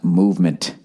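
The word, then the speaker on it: MVMT: going out this week MV empty watches everybody pronounced movement oh that's not supposed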